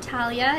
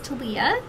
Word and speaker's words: Tiia: pronounce my name and it is not Talia it is tiia um I just wanted